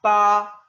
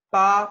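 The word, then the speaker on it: 八: Entonces, la primera palabra significa 8 y se pronuncia pa, pa, porque bueno, como les dije, la B en chino o en pinyin tiene sonido de P en español, pa.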